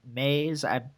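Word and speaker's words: Maes: I wondered about Roy and Maze. It's spelled M-A-E-S. That's Maze. Yeah, that's Maze.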